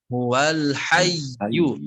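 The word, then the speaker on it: هو الحيّ: Begitupun di huruf iya-nya kurang ditekan cara membacanya. Huwal hayyu. Jadi tadi sudah menekan, cuman kurang kuat, gitu ya.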